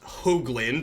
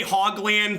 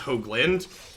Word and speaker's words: Hoagland: I'm bottoming hearthfire here my last name is pronounced Hoagland with a long Oh sound huh I think I just grasped this so they can't like dumb reason Bush me I do say ha gland to make fun of my own name on occasion but that the actual pronunciation is Hoagland they missed their third